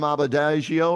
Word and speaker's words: Adebayo: PJ Tucker at power forward, and Bam Adebayo, or how do you say his last name? Bam. Adebayo.